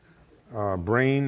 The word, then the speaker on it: brane: Brane is spelled B-R-A-N-E, like membrane.